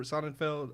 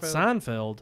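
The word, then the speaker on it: Sonnenfeld: his name Seinfeld or sonenfeld uh not Seinfeld not Seinfeld it's like Sonic it's like simonfeld he not only nailed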